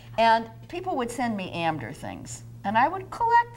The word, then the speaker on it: Amdur: what I'm talking about amder I should have said is the way Jewish people Yiddish speakers pronounce the town of indura this is indura just